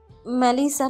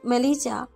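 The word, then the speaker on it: Melissa: মেলিসা, নট মেলিজা।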